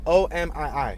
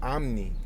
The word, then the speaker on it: Omi: You could spell it O-M-I-I or O-M-I. Omi. O-M-I. They'd be like Omni.